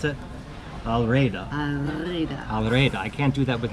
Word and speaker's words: El Reda: Okay, so I think first off we have to thank the very nice people here at, could you pronounce it? Al Reda.